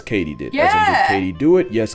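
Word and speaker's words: katydid: completely butchered that where it turns out it's katie did yeah katie do it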